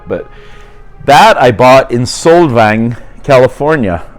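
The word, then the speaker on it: Solvang: that I bought in svang California I want to say sang because that's the right way to say it it's it's a excuse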